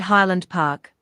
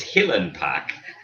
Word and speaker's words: Highland Park: calling somewhere i can't just said highland park nice well that's wrong that's wrong that's all that's wrong you reckon yeah it's hillen park um yeah that's about